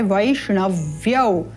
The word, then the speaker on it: वैष्णव: लिख देते हैं वय श मुर्धन्य श मुर्धा से उच्चारण करना है पुनः मुर्धा से ण का उच्चारण वैष्ण इस प्रकार से केवल उच्चारण स्थान का ध्यान देना है वैष्णव तद उपरांत यौ पुनः